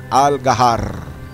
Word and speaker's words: Al Qahar: right take note uh listen to the way I pronounce the word Al gar with emphasis to letter r well because you know that's how they pronounce letter the letter r r so this is jabal